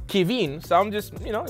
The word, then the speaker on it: Kevin: being racist my name my name is Kevin but it's French it's pronounced kin so I'm just you